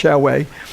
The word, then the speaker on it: Xiaowei: That's the way it's pronounced, Xiaowei.